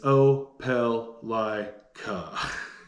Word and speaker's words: Opelika: pronounced oblique opelica there's been a couple different pronunciations i've heard over the years but it's oh pel lai ka another con if you're moving here from a